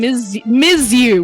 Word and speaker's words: Yu: It's because I've been saying Ms. You, which is how you pronounce it.